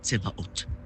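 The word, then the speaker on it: Sabaot: Kom ons begin by die uitspraak van hierdie naam Tsebaot. Die spelling is S-A-B-A-O-T. Maar die S aan die begin word uitgespreek as 'n ts klank.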